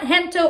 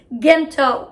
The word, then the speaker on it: Gento: how to say this it's not hento or gento it's gento there was so